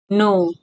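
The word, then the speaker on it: know: एन के think जानू नो के एन ओ डब्ल्यू नो इस्मा प के साइलेंट हु्छ तले के एन ओ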